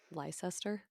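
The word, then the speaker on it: Leicester: want to say like the word luster to me among other names in your country it it should be pronounced Lester it should yeah and to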